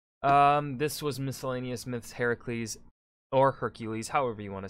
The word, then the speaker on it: Heracles: just saying heracles and hair the way it's pronounced heracles doesn't roll off the tongue as much as